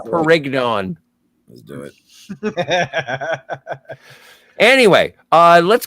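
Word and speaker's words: Pérignon: It's pronounced Perignon.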